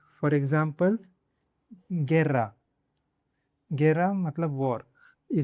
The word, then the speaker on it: guerra: When GU is followed by E or I, the U is usually silent. For example, guerra.